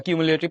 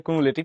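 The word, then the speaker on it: cumulative: ওকে, বা কিউমুলেটিভ তুমি যেটাই বলো, অ্যাকচুয়াল উচ্চারণ হচ্ছে কুমুলেটিভ ফ্রিকোয়েন্সি। তো আমরা এখন বের করবো এখানে ক্রমযোজিত গণসংখ্যা, যেটা আমাদের উত্তর, ক্রমযোজিত গণসংখ্যা।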